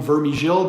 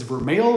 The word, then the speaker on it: Vermeil: in the UK, Vermeil, a lot of people call him Vermigil, but his correct way to pronounce it according to him is Vermeil.